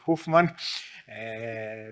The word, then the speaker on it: Hoofman: And my friend Romano Hoofman, I pronounce correctly the Flemish way, the Hoofman.